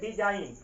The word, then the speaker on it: design: अब देखिए यहाँ पे एन से पहले जी आया है तो यहाँ पे जी क्या होगा, साइलेंट हो जाएगा। यहाँ पे इसको हम पढ़ेंगे डिजाइन। अब यहाँ पे आपका जी क्या हो जाएगा, ये आपका साइलेंट हो जाएगा।